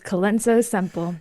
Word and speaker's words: Colenso-Semple: Oh no, I did not practice your last name pronunciation before we hopped on. Can you give us that please? That is Kenzo Simple. Keno Simple.